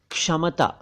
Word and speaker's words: क्षमता: है एक शब्द है क्षमता क्षमता क्षमता नहीं कुछ लोग इसे क्षमता कुछ लोग क्षमता कहते हैं दोनों ही उच्चारण गलत हैं आपको कहना चाहिए क्षमता यानी एबिलिटी कैपेसिटी एक